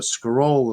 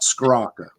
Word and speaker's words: Scrocca: I get everything from to Scarola to Scrocia. It's anything but Scrocca.